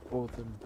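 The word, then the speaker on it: Óðinn: In Icelandic, it's pronounced Odin. Like, it sounds like a TH.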